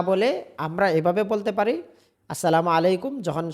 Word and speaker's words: আসসালামু আলাইকুম: অনেকে বলে সালামু আলাইকুম। আসসালামু আলাইকুম। আসসালামু আলাইকুম। অনেকে বলে আসসালামু আলাইকুম। সালাম আলাইকুম। এগুলো সবগুলো হচ্ছে ভুল উচ্চারণ।